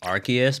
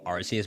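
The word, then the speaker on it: Arceus: Apparently, it's supposed to be Archus, but I'm I'm not saying Archus, bro, after I've been saying Arus my entire life.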